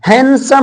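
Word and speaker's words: handsome: आई एम हैंडसम clear हैंडसम होता है clear व डा को नहीं बोला जाता हैंडसम हैंडसम मीन सुंदर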